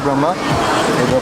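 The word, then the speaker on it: ब्रह्म: then there are Why does it say Brahma then? See, I'll tell you. The main one is called Brahm, not Brahma. Brahm.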